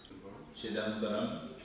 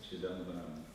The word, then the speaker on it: Chidambaram: Chidambaram? Yes, Chidambaram. Chidambaram. We're still learning how to pronounce the places we went.